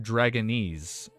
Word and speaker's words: Dragonese: Diouf, it's pronounced Dragonese. Dragonese. Got it. Dragonese. Oh, it's similar how you say Japanese or Chinese, I think.